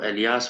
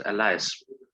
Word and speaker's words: alias: कुछ बच्चे इसको एलियास भी बोलते हैं, normally it is pronounced as अलायस।